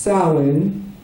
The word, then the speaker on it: Samhain: celebration of what is spelled Samhain, but is pronounced Samhain, probably.